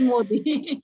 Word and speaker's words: Modi: It's a Modi. It is like modified. So Narendra Modi is not modified. So it is Modi.